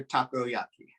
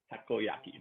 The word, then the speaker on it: Takoyaki: It's Takoyaki. Takoyaki. Okay. Takoyaki. It's exactly how it's spelled, but exactly.